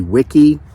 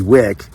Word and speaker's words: Wick: I was calling her Stacy Wiki. It's supposed to be with just a Stacy Wick.